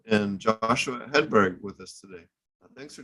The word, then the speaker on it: Hedberg: have uh Eric augerson Alex Olson and Joshua Hedberg with us today thanks for joining us guys hopefully I pronounced your names right there ah you got